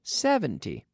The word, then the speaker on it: seventy: hundred and seventy seventy the intonation on the first syllable seventy not seventeen but seventy the second number one